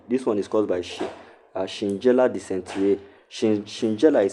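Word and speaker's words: Shigella: this bacterial dentry this one is caused by Shinjella decent. Shinjella is spelled S H I G E L L A Shinjella decent.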